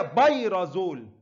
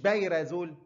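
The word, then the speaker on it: pyrazole: والتانية بيرازول مش بايرة، مش بايرازول، بايرة، لا بايرة دي حاجة تانية، بايرازول حميدة وبايرة عشان تفتكرهم بيهم، خلاص كده؟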